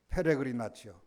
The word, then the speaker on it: 페레그리나치오: 발음이 좀 어렵고. 페레그리나치오.